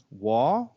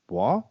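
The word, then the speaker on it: Waugh: the director rick roman wah i guess wolf wolf w-a-u-h w-a-u-g-h how would you pronounce that wah wah sure like whoa whoa so as you can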